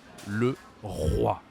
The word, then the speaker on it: le roi: So first we have this tiger letter, the R in French, like a tiger, and then again, like le roi.